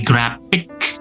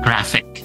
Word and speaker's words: graphic: designer itu contohnya ya jadi bukan lagi grafik karena dalam bahasa Indonesia pun tidak pakai P-nya itu tidak dilafalkan ya even in bahasa Indonesia so use that construction gunakan pelafalan seperti itu ya graphic graphic kalau bingung ya enggak Enggak usah ae-a deh, graphic aja udah ya graphic. Nah, seperti itu ya.